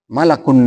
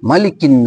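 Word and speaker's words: مَلِكِ: Malakun nas. Malak itu kan artinya malaikat. Nah, misalnya harusnya malikin nas, dia bacanya malakun nas.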